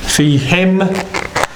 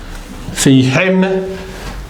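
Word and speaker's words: فيهم: If it's going to be, again, this takes the same rule of pronunciation as who. So in them, plural male, it's going to be fi, fi him, fi him.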